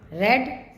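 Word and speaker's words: read: रेड रेड। इसकी spelling तीनों की सेम है लेकिन प्रोनंसिएशन अलग है। फर्स्ट फॉर्म है रीड, सेकंड फॉर्म है रेड और थर्ड फॉर्म है रेड।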